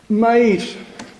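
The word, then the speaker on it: Mayr: la depresión no existe es una arbitrariedad humana mair vamos a pronunciarlo Así ha enseñado que existen cuatro conceptos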